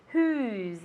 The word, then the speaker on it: who's: what who's mean okay be careful with the pronunciation who's as if it were with the Zeds who's repeat at home